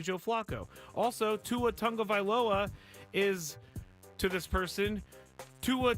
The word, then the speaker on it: Tagovailoa: Also, Tua Tagovailoa is, to this person, Tua Tagovailoa, which is also not their name. Not their name. Tagovailoa is not his name. It's Tagovailoa. Vailoa is not their name.